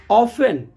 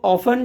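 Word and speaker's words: often: लिख के आए तो टी का उच्चारण नहीं होता है वो साइलेंट हो जाता है य लिसन लिसन में एस टी ई एन है लिसन ऑफेन तो ऑफेन जो होता है ओ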